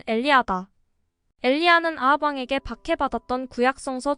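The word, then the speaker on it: Elijah: 또 소설에서 한 사람을 제외하고 모두 죽을 것이라는 예언한 남자의 이름은 일라이저다. 히브리식 발음으로는 엘리야다.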